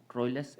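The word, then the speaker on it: Troilus: सी on your screen ट्रॉयस एंड क्रेटी modern English यह इसका उच्चारण है इ पोयम बाय जफ्री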